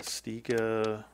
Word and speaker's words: Stiga: didn't but one of my employees did um stiga which i am pronouncing correctly apparently somebody somebody posted that i